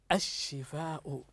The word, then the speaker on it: الشفاء: التي كتبتها لكم الان الشفاء هنا اللام كتبناها لكن لم ننطقها تكتب تكتب تكتب ولا تنطق ماذا قلنا قلنا